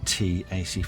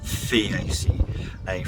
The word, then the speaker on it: Theaceae: They're from the Taceae family or Theaceae family, depending on if you want to pronounce that H or not.